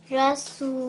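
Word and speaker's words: رسوله: And that was very nicely done because you actually pronounced the ha. Sometimes we can't hear that ha sound when we do it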